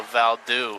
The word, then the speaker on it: Waldo: hey you know um they pronounced Waldo the name Waldo valdo we we in Salem no in like uh different countries what say it again the like the name Waldo they pronounce it valdo Val valdo or yeah